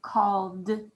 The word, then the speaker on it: called: end of the word called called called you should be saying we hear the d d sound at the end of called awesome job let's erase